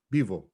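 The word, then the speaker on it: пиво: Pivo. Bivo.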